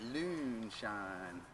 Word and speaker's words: Loonshine: i'm gonna mispronounce this is it loonshine or lunashine report you may call it whatever you want but loonshine like moonshine but uh the loon is uh the french called moon loon as in lunatic lunatic